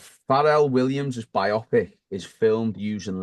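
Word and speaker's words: Pharrell: he said you know far Williams has had or farel Williams sorry for that's how it's pronounced in it he's using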